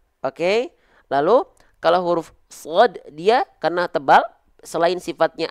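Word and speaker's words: صاد: kasih isyarat dua ini shod. Perhatikan, su, si, si, su, su. Bisa dirasakan nggak teman-teman? Ya, gitu. Shod kasroh bacanya gimana? Ya baca aja seperti huruf sin tapi pangkal lidahnya diangkat.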